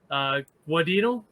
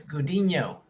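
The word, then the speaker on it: Gudiño: Is it Guadino? It's Gudino.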